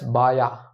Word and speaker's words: baja: That is called patella B-A-J-A. Pronounced as Baya. Not Baja, Baya.